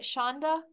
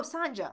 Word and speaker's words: Sanja: had your name right is it Shonda oh Shanda how do you spell that if you don't mind s o NJ a oh Sanja okay thank you Sanja yes I completely agree